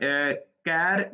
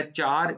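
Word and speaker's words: char: point तक की है अब ये केयर या चार जिससे हम मर्जी आप इसको प्रोनाउंस करें यह कैरेक्टर टाइप है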